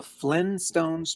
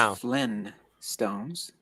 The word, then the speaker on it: Flintstones: So the way I remember it was Flynn Stones and now it's Flint Stones.